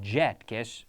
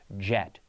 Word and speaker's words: jet: J no yes yes so if we have the word yet yet yet yet and then I have jet jet jet J Jet Jet Jet yet yet yet yellow Yow yellow yellow Jello jell you see with the J my lips are rounded with the why it's more of a smile and I prefer the